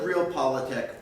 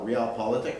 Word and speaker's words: realpolitik: In a world of realpolitik, or realpolitik, depending on how you want to pronounce it, might makes right.